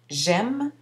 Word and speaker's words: aime: pluriel, ce qui donne j'aime, on prononce le M mais non le E final, tu aimes, il aime, nous aimons, ici le S final est muet, vous aimez, ils, elles aiment.